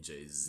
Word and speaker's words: Jay-Z: I guess however JC would pronounce it. You say JC? You mean Jay-Z? That's her husband, right? Jay-Z. JC. It's Z, not JC from some other JY C.